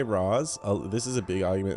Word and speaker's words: Ra's al Ghul: Okay, so I say Raz.